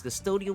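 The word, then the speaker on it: Cvstodia: He is taking note of what's happening in Custodia, and yes, it's Custodia with a V and not a U, cause fuck you, the game says so, that's why.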